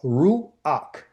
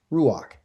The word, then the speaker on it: ruach: how to say it, it's just ru, like kangaroo, ruach, and this is called ruach.